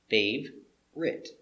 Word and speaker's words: favorite: my favorite sport favorite favorite looks like three babert but we don't say a favorite we make it to fave writ pronunciation fave er favor